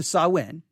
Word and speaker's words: Samhain: it um halloween and sawin to say that modern halloween's connections to sawin uh and oh they they add the pronunciation here that's good and parentheses that's sawin by the way thank